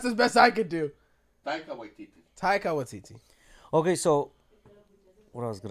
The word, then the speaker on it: Taika Waititi: Oh, the guy who directs like the last Thor movie, Takai Waititi. Yeah. That's a I don't mouthful. think that's how you for a pronounce name.